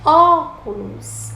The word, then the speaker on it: óculos: E óculos, a primeira sílaba é a antepenúltima sílaba.